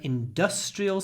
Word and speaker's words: industrial: from an industrial city here the stress moves industrial industrial so we stretch the s industrial industry with a n industrial with a s industry industrial industry industrial so remember stressed syllables are longer not louder 187 it's not a